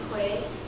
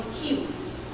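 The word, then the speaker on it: Khuê: Without a circumflex, American would call me Khue. And with a circumflex, it's pronounced Khue.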